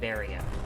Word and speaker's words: Varia: it is actually pronounced baria if i remember it's a mistranslation on barrier which is what it was initially meant to be called but then they just